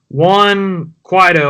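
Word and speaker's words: Juan Guaidó: who is actually in control of that country, Juan Guaido, I think is how you say his name.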